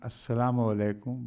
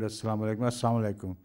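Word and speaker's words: السلام عليكم: they were not saying assalamu alaykum but assum like some people hurriedly pronounce the word Asam Alam Alum you don't hear an L in between so Assam means destruction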